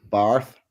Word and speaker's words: bath: That is to say, Barth rhymes with hearth, the spelling of which makes no sense to me.